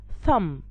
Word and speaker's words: thumb: example i have climb not climb i have thumb not thumb i have bomb not bomb so